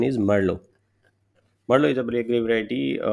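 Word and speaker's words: Merlot: a black gray variety so it is not marlot the pronunciation is Merlo Marlo is a great variety ripe faster it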